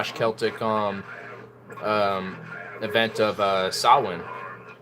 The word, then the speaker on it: Samhain: / Celtic event of sahlan or if you're an uneducated American Samhain the Samhain I like how I